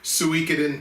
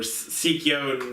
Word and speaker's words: Suikoden: to pronounce this right, Suikoden 2. Or Suikoden, as we used to say until our friend who knew Japanese kept correcting us. Yeah, it's true. Yeah, it always used to be. Suikoden or Suikoden, I guess, or whatever.